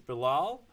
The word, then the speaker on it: Bilal: This is Bilal. Is it Bilal Bilal? How what's the right pronunciation for your name? The the first way yeah, the first way was right.